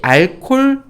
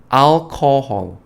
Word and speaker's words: alcohol: 자, 이 알콜 발음 멋있게 하는 게 이거야말로 중요합니다. 그냥 알콜 못 알아들어요. 진짜 못 알아들어요. 알콜 이렇게 얘기하면 못 알아듣습니다. alcohol, alcohol, alcohol 해주셔야 돼요.